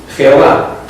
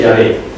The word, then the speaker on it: Jehová: Editorial Herder, literalmente dice: Jehová, falsa pronunciación del nombre de Yahvé, y así en general.